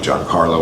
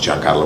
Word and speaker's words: Giancarlo: call him moth gideon i said my name john carlo esposito for years i now say it the way it's properly pronounced my name is giancarlo esposito so maf gideon without